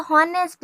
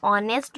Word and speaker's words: honest: ये लिखाता तो हॉनेस्ट है, लेकिन इसको हम प्रोनाउंस जब पढ़ते तो ऑनेस्ट पढ़ते हैं। ये ऑनेस्ट, ये एक सेकेंड ना, ये ऑनेस्ट है, ठीक है। तो ये एच है जो हमारा वो साइलेंट हो जाता है, और यहाँ से